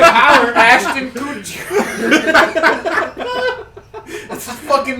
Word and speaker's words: Kutcher: Where's Ashton Kutcher at? You Ashton Kutcher. And where's Ashton Coochie? That's his name. Ashton Kutcher.